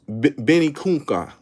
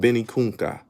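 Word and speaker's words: Vinicunca: a v it's called benikunka that's what it's called benikunka benikunka it's spelled with a v but you know v is b in spanish benny kunka growing up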